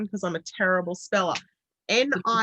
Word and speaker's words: Nictritious: Nictritious. Correct. It's like nutritious, but with Nick, because she's Nicole.